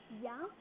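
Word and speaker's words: 洋: That way, everybody would know that this is a character pronounced as yang and it relates to water.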